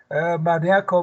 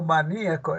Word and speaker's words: maníaco: muchachos sin Amparo dice Existen algunas palabras que pueden ser representados con más de una sin cambiar por ejemplo fútbol fútbol maníaco maníaco etcétera Bueno qué pasa esos son de doble acentuación nosotros en Perú El